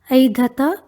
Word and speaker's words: ऐधत: Lung लकार में रूप बनेगा ऐधत ऐधेताम। ध्यान रहे ऐ उच्चारण करना है, ए उच्चारण नहीं करना है।